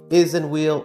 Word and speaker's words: Isinwheel: Today I present you with the Isinwheel or I sin wheel depending how you want to pronounce it.